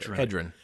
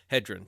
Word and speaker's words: Hedren: Hedren. Hedren.